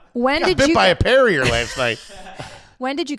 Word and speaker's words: Perrier: Parrier is not bubbly enough. You're saying it wrong. I think you know that right. Perrier.